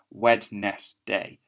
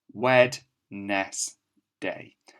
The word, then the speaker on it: Wednesday: day wednesday hmm that's not how we say it is it but that is quite a good way of remembering how to spell it wednesday it's just one of those funny words it's got sounds in there that we don't really hear wed ness day and that's one that